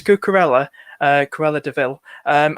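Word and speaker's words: Cucurella: and fun um is it cool it's like pronounced the names of bloody penguin it's cucarella uh cruella de vil um a good option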